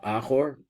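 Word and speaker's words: אחור: Now we pronounce this ach instead of achor, and there are reasons for that, as we'll understand later.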